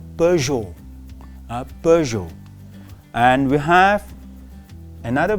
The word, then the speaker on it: Peugeot: A lot of people say Peugeot. No, it is called Peugeot.